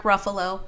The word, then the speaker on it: Ruffalo: And I love Mark Ruffalo, by the way. It's not Ruf.